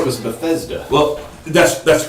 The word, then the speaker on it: Bethesda: but it's it's definitely Bethesda is correct and Bethesda you gotta pronounce the the middle syllable there is uh familiar